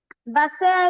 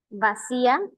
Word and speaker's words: vacía: Si yo te digo, por ejemplo, mamá te dice, "Vasea el agua." No, no es correcto. No digo basea, no se dicea. ¿Cómo debo decir vacía el agua?